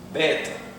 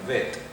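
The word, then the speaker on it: ב: al la segunda es bet si se encuentra con este punto llamado dages se pronuncia como una B y si se encuentra sin ese punto llamado dages se llama se pronuncia vet al bet vet la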